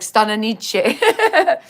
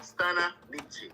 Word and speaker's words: Stanna Nittchie: Am I giving it a whole Italian spin? I was like Stanna Nittchie. Yeah, that's the pronunciation. Stanna Nittchie.